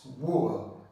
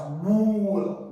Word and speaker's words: wool: the correct answer put wool don't make the mistake of pronouncing this word as w wool no it's not the long sound it's Wool Wool put wool so the